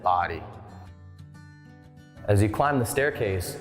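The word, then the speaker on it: Bodie: this lighthouse' name but here in the Outer Banks we do pronounce it body as you climb the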